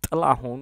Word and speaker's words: Tlahun: So Tlahun, which is pronounced with a t noise, means bee shadow.